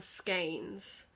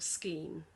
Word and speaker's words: skein: be called floss embroidery floss or skeins or scheme depending on your pronunciation and that's spelt s-k-e-i-n um so they come